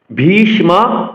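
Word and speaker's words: ভীষ্ম: দ্রুণ প্রামুখাতা আট অক্ষর ভিষম ভি মহাপ্রাণ উচন করতে হবে দীর্ঘস্বর দেখুন বাংলাতে কিন্তু আমরা বিশ্ব বলি সংস্কৃত উচ্চারণের ক্ষেত্রে আমাদের প্রতিটি বর্ণের সতন্ত্র উচন করতে হবে বলতে হবে ভীষম ভীষম দ্রুণ প্রামুখতাহ আট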